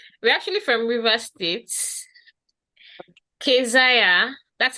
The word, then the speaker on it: Kezia: Kezia. That's how we pronounce it.